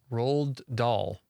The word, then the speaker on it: Roald Dahl: And our quote of the day today is from Roald Dahl. That's pronounced correctly.